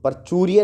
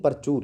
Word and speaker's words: प्रचुर: हैं इसका अबंडेंस प्रचुर प्रचुर्य नहीं प्रचुर यहां पे स्पेलिंग वो करेक्शन कर लेना प्रचुर प्रचूर मतलब अधिक